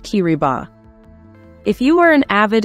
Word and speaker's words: Kiribati: T is pronounced as C therefore kirbas is pronounced kiriba if you are an avid Enthusiast of the